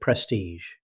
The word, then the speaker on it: prestige: Let's continue with prestige. The ending isn't a hard g sound, instead native speakers say prestige, finishing with the same sound you hear in measure.